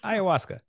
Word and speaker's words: Ayahuasca: word it's a tricky word it's hard to spell it's hard to say Ayahuasca there you go and uh I was like